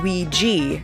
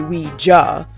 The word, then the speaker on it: Ouija: now you're asking yourself why do we pronounce it Ouija and not we just well it is supposed to be we ja but humanity just can't be bothered to pronounce the words that makes up properly enough people started saying Ouija and it just stuck anyway as the story